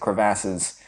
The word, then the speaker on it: crevasse: Tron is going up against Sark in this big, craggy place with a bunch of canyons and crevasses. And Sark What'd you say? Huh? How'd you pronounce that?